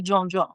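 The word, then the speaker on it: djon: We want you to say John just because because it just honors the dish because of the fact that you know that's the proper name cuz you will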